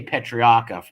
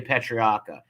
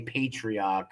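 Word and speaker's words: Patriarca: And listen to how Jeff says patriarcha. We say patriarcha. People from Providence, the way of our accent, we say patriarcha. People not from around here say patriarcha, or however you pronounce it.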